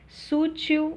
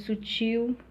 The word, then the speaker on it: sutil: Sútil ao invés de sutil, uréter, né?